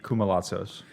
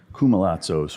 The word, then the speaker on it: Koumalatsos: Welcome to the stage, K, and I'm going to let you pronounce it in the most authentic Greek fashion for the listener. That would be Koumalatsos. Koumalatsos, which sounds easier to say than what it